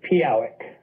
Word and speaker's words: Pehowic: So your last name is pronounced Pehowic, right? No, it's Pehowic.